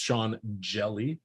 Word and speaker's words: Hjelle: The other side, they're going against Sean Hjelle.